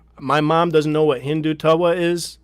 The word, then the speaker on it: Hindutva: to help and my mom doesn't know what hindu tawa is how do you say it by the way hindutva so i'm here to learn and if i'm